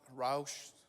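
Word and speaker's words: רוח: uh wind and breath it's rock roush uh all the i don't see any ugsd professors here so that's how you say it and i think i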